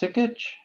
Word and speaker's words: Sikich: Is it pronounced Sikich?